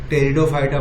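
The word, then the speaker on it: Pteridophyta: टेरिडोफाइटा जो है, टेरिडोफाइटा, यहाँ पे ये फाइटा है और ये पी नहीं पड़ा है, टेरिडोफाइटा पढ़ा जाएगा। टेरिडोफाइटा, पी साइलेंट रहेगा।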